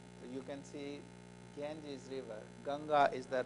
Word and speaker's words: Ganga: about to play you can see gen's River ganga is the right pronunciation Floy from his J from his it